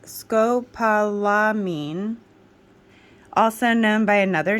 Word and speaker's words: scopolamine: serums here they are here we go okay Scopolamine scopolamine hydrobromide first word pronounced skopalamine also known by another name hyosine hydrobromide it